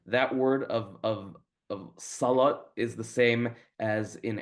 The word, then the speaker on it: salah: the word for prayer which is salah. So, and and in uh in Syrian sort of American Syrian parliament, it sometimes ends up being pronounced like, you know, did you how was the at like that? Um but it comes from the Arabic word salah, which is prayer.